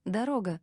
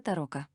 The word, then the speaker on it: дорога: говорит русский или немец немцы это слово не умеют произносить у них получается Таро на этом слове проваливаются даже немецкие Разведчики переодетые в нашу форму как скажет рока так и попался счёт до трёх